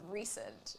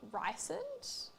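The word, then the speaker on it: Rhysand: There's a character in it called Recent, but it's spelt Recent with like an R-H-Y. So it's R-H-Y-S-A-N-D. And so I think the whole time I read like the first 3 books, I thought it was pronounced Rysand. And in my head that sounded fine. And then I compared it with other people. It was wrong.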